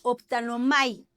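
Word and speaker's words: ὀπτάνομαι: Que no es lo mismo que la palabra optanomai. ¿A qué te suena optanomai? A optometrista, ¿verdad?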